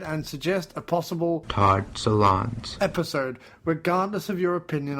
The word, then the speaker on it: Solondz: Apparently, it's pronounced Solondz. One last time. Solondz.